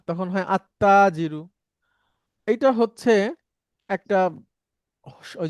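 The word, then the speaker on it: التاجر: তাহলে এই তাজিরুতে যখন আলিফ লাম দিব তখন আর লামটা উচ্চারণ হয় না। তখন হয় আত্তাজিরু।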